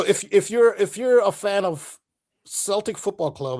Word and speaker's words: Celtic: Celtic, they pronounce it Celtic.